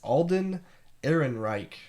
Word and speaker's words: Alden Ehrenreich: If you're just reading it, it's hard to pronounce. But it's Alden Ehrenreich.